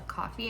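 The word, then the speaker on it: Ko-fi: I heard somebody looked it up and like when you click the little dots on how do you pronounce it, it says uh coffee.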